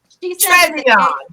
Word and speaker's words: Trevian: giving our closing so L been saying my name wrong forever okay my name is Tran she she says it the gay way like